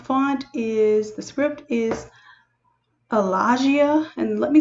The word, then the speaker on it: Allagia: The top font is, the script is Allagia, and let me spell that just in case I'm mispronouncing it.